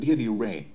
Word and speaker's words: Ra: Many people call him Ra, but the correct pronunciation is Re. That's why his name is also written as Re.